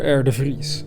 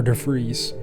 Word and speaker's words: de Vries: the name of Peter de Vries. That's how you would pronounce it in Dutch. So perhaps for you Americans it would be something like Peter R. de Vries.